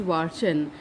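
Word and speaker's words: Watschen: A few times she was given what was known as a Watson, pronounced Watson, in the corridor.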